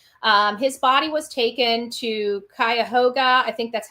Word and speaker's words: Cuyahoga: His body was taken to Cuyahoga. I think that's how you say it now that I've got it again. Cuyahoga County Coroner's Office due to suspicious circumstances, police said in a statement.